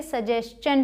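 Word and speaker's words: suggestion: अगर एस के बाद टी आई ओ एन आता है एस के बाद मतलब इससे पहले अगर एस आ जाए तो इसे शन नहीं चन प्रोनाउंस करेंगे। जैसे यहां सजेशन इसे सजेशन पढ़ा जाता है।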